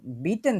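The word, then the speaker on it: bitten: বিটে মানে হচ্ছে দয়া করে বা প্লিজ, আর বিটেন যেটা এটা হচ্ছে একটা ভার্ব, এটা মানেই হচ্ছে অনুরোধ করা। কেউ একজন উচ্চারণ করেন তো এই ভার্বটা।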